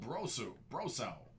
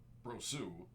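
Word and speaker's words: Brosseau: Out of just 25, that's Michael Brosau. Or technically it'd be Brosu. Depends on if he pronounces it the French way or not. Brosu would be French. Brosau would probably be Cajun.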